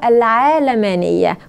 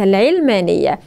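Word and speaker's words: العلمانية: جارد ينشب القوامه العلمانيه في الحقيقه النطق العربي الصحيح لها هو العالمانيه وليس العلمانيه ولكن للتسهيل بنقول العلمانيه دعاه العلمانيه الليبراليه الالحاد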